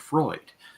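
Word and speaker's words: Froid: it's something fancier, but it's spelled F-R-O-I-D, and I'm calling it Freud, because Sigmund's not around.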